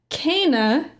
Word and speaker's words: Kena: So I was like, okay, Kana.